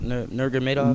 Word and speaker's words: Nurmagomedov: Nurmagomedov. Nurmagomedov. Don't ask me. Just I don't add know. another syllable in there.